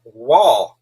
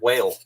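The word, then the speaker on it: Wahl: a town those clippers are made in it's pronounced wall clippers fairy that's what i love about youtube you learned so much stuff wall clipper i always said whale i guess it's the eastern kentucky pronounced pronunciation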